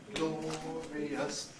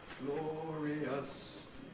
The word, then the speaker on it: glorious: And you can see that glorious is there treated as three syllables, and you've got a separate note for the I and the Glorious. There's another well-known hymn people sing in church, which begins, Glorious things of thee are spoken, Zion, city of our God. Well, it has to be scanned as two syllables. Glorious things of thee are spoken. Glorious has to be compressed or it won't fit the music.